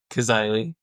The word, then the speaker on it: Cazaly: I'm going to butcher his last name as Cazaly, I believe. Is that correct? Cazaly. Very close. Cazaly. Jeez. You butchered said by that like 10 minutes ago.